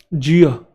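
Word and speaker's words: jeer: जियो, are silent होता है, जियो।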